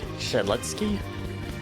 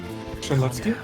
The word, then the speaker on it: Shedletsky: Shaletsky? Shedletsky. Yeah, Shedletsky. Shedletsky, yeah. Sorry if that's offensive. If I were pronouncing it wrong or something.